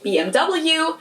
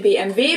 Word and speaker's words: BMW: In English, people say BMW. In German, we say BMW because W is pronounced W in German.